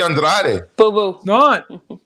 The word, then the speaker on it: Andrade: great ray dray drake it's not dried straight actually telling you it is it's actually andrade i sat next to his cousin at a fight okay and people were yelling andrade and he's telling them